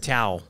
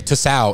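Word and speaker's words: Tso: I heard Tao. Tao? But the people that say Tsao is definitely wrong. Dude, I was we all can agree that's definitely wrong.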